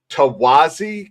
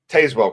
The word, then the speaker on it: Tazewell: But a court over in Tawazi County, I don't know how you say it, Tazewell County, which is right about here.